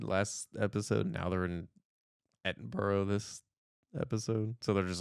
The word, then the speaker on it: Edinburgh: Edinburgh. Edinburgh, which you told me the correct pronunciation of Yeah.